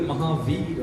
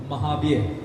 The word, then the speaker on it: Mahavir: So the word Mahavir has now become Mahabir, as in the title that someone carries. It's the same thing, same spelling, wrong pronunciation.